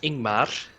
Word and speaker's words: Ingmar: My real name in real life is Ingmar, instead of Gengar. It rhymes.